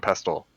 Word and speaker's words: pestle: You actually pronounce the T in pestle? Yeah, you do, because it's pronounced. It's not silent. Mortar and pestle.